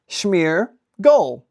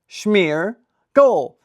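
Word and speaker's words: Smeargle: For everyone's favorite segment of the day, Pokémon pronunciation of the day. Ow. Smeargole. Smeargole.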